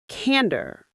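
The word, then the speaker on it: candor: It's simple and strong. Cander. Cander. Cander. The stress is right at the front.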